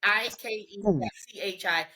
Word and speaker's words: Ikechi: Yeah, they call him Ike, but it's Ikechi. It's Ikechi. It's Ikechi is how you pronounce it.